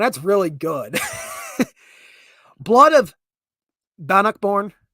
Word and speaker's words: Bannockburn: Blood of Bannockborn. Yeah, I had to make sure I pronounce it right. Blood of Bannockborn. Bannockburn.